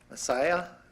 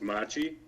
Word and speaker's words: Machi: on your name um it's actually pronounced machi machi i was so close